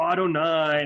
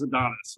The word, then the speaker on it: Adonai: I don't know who, and I always thought it was Adonis. I don't know how to say it. I think it actually is Adonis, isn't it? It's the way. No, it's Adonai. It's Adonai.